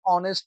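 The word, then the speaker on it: honest: আবার যদি দেখি আমরা এখানে my father was অ্যান অনেস্ট doctor, এখানে আবার এই একটি কনসোনেন্ট, কিন্তু এখানে শব্দটির উচ্চারণ আসছে ও এর মতো, যেটা একটি ভাওয়েলের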